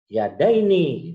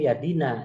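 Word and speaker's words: يدين: Yadaini itu misalnya dalnya itu yang fathah itu. Nggak boleh yadina.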